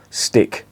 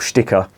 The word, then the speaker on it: Sticke: the ethanol and if you try the uriga stick or sticker as it's pronounced that that literally translates to the local